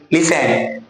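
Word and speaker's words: listen: तो bye home is radio third form लिसन की तो हो जाएगा इडी लिसन। क्लियर? और एक चीज और लिसन इसको हम पढ़ते हैं टी साइलेंटली तो आप लिस्टेंड ना पढ़ना चालू कर दें।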